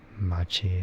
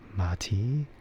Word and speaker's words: machi: And it's not made any better when uh instead of saying like machi as m a c hi, they spell it as m a ti. So then people think is m like matey which I mean I wouldn't blame them. I wouldn't blame people for saying it like that but you know